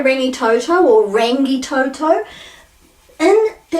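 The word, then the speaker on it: Rangitoto: So this is rangi toto, a, e, I, o, u. Mangere. So people say mangere or numerous other pronunciations.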